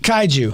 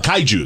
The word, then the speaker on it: kaiju: the seabed they're called could you help me pronounce it kaiju kaiju xantech I Jews and I think that's a